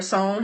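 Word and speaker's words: SONE: um well I mean if you think of yourself as a Sunday or song however you want to pronounce it most people see it with the S at the end and think that the fandom's name is songs but it's really not it doesn't have the S on the end that's just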